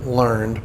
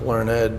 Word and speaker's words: learned: So it's like learned, but it's actually pronounced learned because it means they're knowledgeable, educated, and had themselves experienced oppression under British rule.